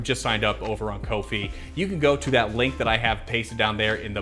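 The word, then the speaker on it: Ko-fi: i really appreciate you i'm sorry not kofi it's kofi i was reminded here today on stream make it just spell it with two e's if you're gonna put an i in it looks like wi-fi all right anyways that's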